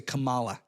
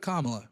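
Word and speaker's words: Kamala: They would say Camala instead of Kamla. It's really easy to pronounce, but they use it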